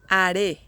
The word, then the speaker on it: haré: In Spanish, haré, haré. The stress goes here on this syllable, re, haré. This word has two syllables, and the intonation goes in the last one, haré.